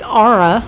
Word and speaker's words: Ara: through that one so at least we know it's ARA which I would expect a you in there for that pronunciation but okay so all